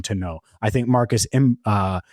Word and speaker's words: Mbow: I think Marcus Imbow, let me figure out how to say his name because I do think that he's a name to know out of Purdue. And, Marcus Bow. It's literally like bow and arrow.